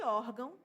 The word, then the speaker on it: órgão: No caso de órgão, a sílaba a sílaba tônica é o. E aqui a gente tem na segunda sílaba o tio, que tá apenas indicando a nasalidade da vogal.